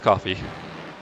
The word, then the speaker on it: Coffey: Yeah, but Michael, it ends in a Y, so it's not quite like the drink, but close. Right. But pronounced the same way.